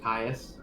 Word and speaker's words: Kyuss: It's pronounced Kyuss, but still, I am not good enough to explain Kyuss.